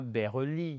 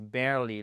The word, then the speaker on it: barely: Vous voyez ici le E c'est pas ber Non, c'est barely.